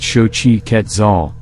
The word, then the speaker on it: Xochiquetzal: thank you Shoji quetzel Shoji quetzel pronounced shochi ketzal was the Aztec goddess